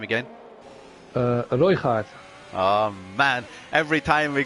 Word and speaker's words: Røygaard: Can you pronounce his name again? Røygaard.